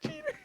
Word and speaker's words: Jeter: It's Jeter.